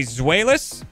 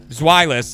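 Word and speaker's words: Zweilous: apparently we got a zoelis zwielis i would guess because it's supposed it's two in german it's violence einstein dry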